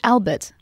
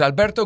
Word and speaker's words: Alberto: LOL should it be Albert actually my name is Alberto so in New York my friends call me because they can't pronounce the r they say Alberto the you know Albert Albert yeah but it's